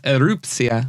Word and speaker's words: Erupcja: You said it correct earlier, but right here you did it a little wrong. It's ERUPCJA. ERUPCJA. Yep. I think because you had recently said it, it was in my head. It's tricky. It's Polish. I wrote it phonetically, but I like that cia.